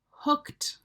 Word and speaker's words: hooked: Hooked on. So here, when we see the ED, it actually sounds like a T. Hooked. Hooked. So you're making that kt sound at the end.